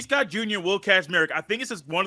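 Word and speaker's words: Kacmarek: Will Kazmarek. And there is not a Z right there. It's K-A-C, but it's Kaz.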